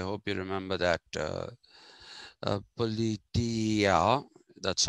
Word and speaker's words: politeia: ideal politia i hope you remember that uh politia that's how it is supposed to be pronounced so the ideal politia got translated as